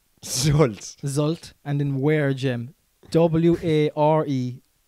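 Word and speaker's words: Zulte: is not how I would spell that, like, you know. Zult Waregem.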